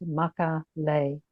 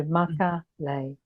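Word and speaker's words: Makalei: purpose because it's pronounced Makale. And the easiest way to remember that is the lei, L-E-I, is like the lei of flowers, like the garland of flowers, the flower necklace. So Makale.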